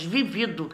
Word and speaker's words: vivido: essa aí de baixo é paroxítona ela é forte na penúltima sílaba então não tem acento nós falamos vivido do verbo viver né